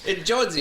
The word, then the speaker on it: Jonesy: And it's pronounced like the last name Jonesy, Jones with an E sound at the end. Jonesy.